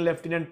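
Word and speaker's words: lieutenant: spelling पूछा गया था ऐसे जो जैसे लेफ्टिनेंट हो गया तो उसको लुटिनेंट लिखने हैं लेकिन लेफ्टिनेंट पढ़ने हैं भूखे हो गया तो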